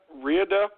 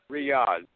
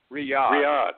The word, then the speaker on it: Riyadh: Saudi capital of what are they how they pronounce that Rida clearing yonder Riyadh Riyadh ok I should know that my brain is